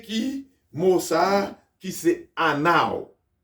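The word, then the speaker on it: ענו: mot ça, qui c'est anao, qui écrit A-N-E-U, W. Alors, on dit Anao.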